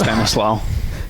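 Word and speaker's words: Stanislaus: do you say that Paul Stanis La Stanis Stanis law in Sonoma thank you November 18 my birthday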